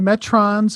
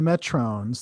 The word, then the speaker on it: Metrons: Where there was the Metrons and the Metrones. That was Metrones, yeah.